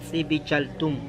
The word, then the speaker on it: Dzibilchaltún: Xibalchatún. Órale. Significa DZIB, se pronuncia Zip.